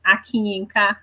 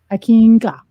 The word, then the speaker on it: Akinyinka: The additional name is actually pronounced Akinyinka. Akinka.